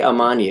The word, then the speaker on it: Amani: So I say Amani. Is that how you pronounce it? That is exactly how you pronounce it. Oh, Amani wow.